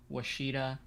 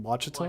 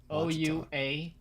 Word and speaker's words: Ouachita: Isn't it Wachita or Wachita? Now, yeah, there was a while I didn't know how to pronounce that, but I think it's Ouachita. I think it's Wachita.